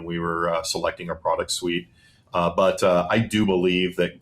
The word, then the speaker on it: SUI: Is that what you're calling it, or is it Swiss? Well, technically it's SUI. Is how you say it, but yes, that is the tick.